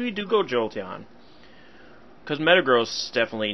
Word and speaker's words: Metagross: the back instead of the meta grass or Metagross I know I go back and forth I prefer Metagross because I think I've heard it more in the anime pronounced that way not that the anime is always right in fact they're often wrong but I like the sound of Metagross better because Metagross makes it